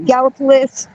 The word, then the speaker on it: Gallipolis: It's pronounced Gallia County, Gallipolis.